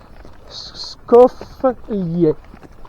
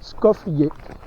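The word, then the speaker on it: Skoflje: Skoflie. Skoflie. S-K-O-F-L-J-E. Enfin E. Mais ça se prononce à l'italienne. Et le J en slovène et en croate, ça se prononce Y.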